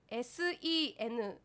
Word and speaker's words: 千住: あれば終え宛先 senju 千住と読みます 1010 @ sea wave .